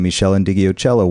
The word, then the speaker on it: Meshell Ndegeocello: roots and then D'Angelo and Erykah Badu and Meshell Ndegeocello one after another there you were you said